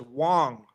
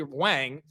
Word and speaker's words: Wong: It's spelled WG, which would read Wang, but we're hearing Wong. So, if we can we get a pronunciation of fanatic guide ELFedia.